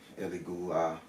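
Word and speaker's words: Elegua: The majority of the male Orishas like it, especially Ilegba, Eligua, depending on your native tongue, how you say it, what culture you're in.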